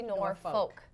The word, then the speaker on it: Norfolk: And the older, it sounds like Norfolk is sort of the regional like the word that it's saying, but it's actually Norfolk.